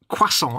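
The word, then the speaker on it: croissant: of those words that if you try and say it just as an English word it doesn't work because there's we don't know how to pronounce as an English word is it cant C we can't do the cro it just doesn't CI doesn't work to an English man yeah so we have to pronounce it the French way but then most people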